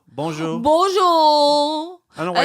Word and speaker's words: Bonjour: But it's like beau. Bonjour.